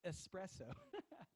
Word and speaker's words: espresso: you know we doe espresso not X espresso espresso that's right that one drives me crazy some